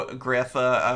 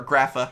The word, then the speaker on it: Grapha: and of course here is the brand new grifa or grapha i should say i always want to say graphic it's graphic i believe it's technically pronounced it